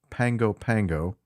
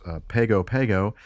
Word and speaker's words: Pago Pago: Polynesians and Samoans uh pronounce the GU as an NG so it's pangopango anyway